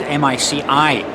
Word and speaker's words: mici: I checked online and everything I'm looking for is M-I-C-I, mici. And I think there's not much of an accent on the last I there.